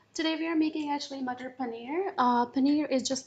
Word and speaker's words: matar paneer: mutter paneer how do you say it again mutter paneer mutter paneer I'll get that mater paneer I notice a